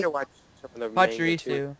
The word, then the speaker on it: Pachirisu: Pachirisu. Pachirisu. Is that how you pronounce that?